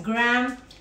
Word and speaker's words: graham: wrap we have uh the graham crust or in english they pronounce it as gram crust so we pour